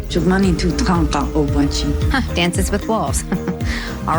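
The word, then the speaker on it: Šuŋgmánitu Tȟáŋka Ob'wáčhi: Dances with Wolves how do you say it shumani to Danka obachi shumani to Danka obachi Dances with Wolves all right I'll take it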